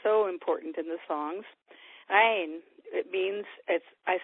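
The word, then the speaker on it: عين: Ain, it means, I spell it with a little dash, E-I-N. The dash is a funny consonant in Arabic called an ain. It sounds like strange sound to us people, but you get the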